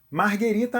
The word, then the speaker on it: Margherita: eu trabalhei em restaurante é fundamental saber a diferença de má o e Margarita Marguerita é a pizza que leva mussarela tomate e manjericão e tem as cores da bandeira da Itália ela ganhou esse nome em homenagem à rainha Margherita de Sabóia Margarita é o coquetel